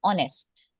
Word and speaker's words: honest: Similarly, an honest man. Same case, H is silent over here. It sounds like honest, you know?